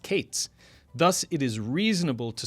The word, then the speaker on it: Qayitz: Now in the north, as opposed to the south, both summer fruit and end were both pronounced Qayitz.